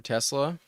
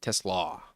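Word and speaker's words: TeSlaa: I I heard it's pronounced Tesla, but let's look at some some game logs while we wait.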